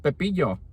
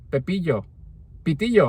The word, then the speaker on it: pitillo: Well, it turns out that a popote down in Colombia is pronounced pepillo. Pitillo, I'm sorry, pitillo, yeah, pitillo. So in Mexico it's popote, in Colombia it's pitillo.